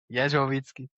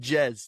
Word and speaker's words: Jezsoviczky: It's Yovitzki. That's Yovitzki. Okay, I was close. I said Jez, didn't I?